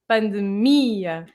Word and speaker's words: pandemia: Words ending in IO or IA, they normally have the stress on the I because it divides the I and the A like it's two syllables. Of So course. it's pandemia. Pandemia, like bon dia, alegria, delaria, and pandemia.